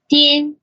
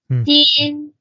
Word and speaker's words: Dian: It's spelled DIAN, and here's how that's pronounced. Din. Din.